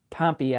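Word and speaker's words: Pompeii: Here's how you pronounce Pompei in Michigan. Pompy.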